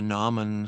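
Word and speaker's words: gnomon: have access to the nen school you know that's silent G it's g n o m o n uh check out Maddie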